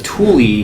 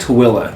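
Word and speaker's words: Tooele: you're not from here you probably pronounce this as Tuli but it's called toilla it is situated near the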